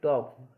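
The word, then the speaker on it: talk: अब इसमें के से पहले आ गई, जैसे के से पहले एल आ जाए तो एल साइलेंट होगी अपनी। TAL के टॉक, इसमें के से पहले एल आ गई, एल साइलेंट है।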